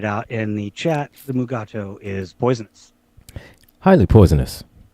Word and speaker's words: Mugato: You say mugato. I say mugata.